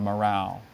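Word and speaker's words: morral: It's also called a nose bag, a morale. Can you give all the information? Sure. Morale and morale are the pronunciations.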